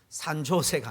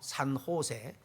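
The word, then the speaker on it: San Jose: 쓰는데 조안이 아니고 후원이요 산 조세가 아니고 산호세 제 이지만은 스페인은 따르기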